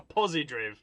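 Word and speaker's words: Pozidriv: Now, I'm not pronouncing that wrong. It's got a Z in it and no E. So it's not Posidrive, it's Posidriv.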